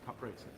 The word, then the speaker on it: Caprese: is kind of like a Caprese caprese is an eye copying it's coming like Capri I don't know if